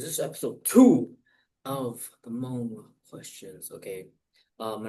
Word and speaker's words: Mong: So, number one is in the Mong green dialect, the word mong is pronounced mo.